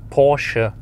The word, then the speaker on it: Porsche: Well, it's Porsche, so you just have to put a little bit of attitude at the end, then it's correct.